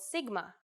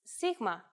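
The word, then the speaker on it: σίγμα: In English, it's often called sigma, but in Greek, it's sigma and makes a s sound.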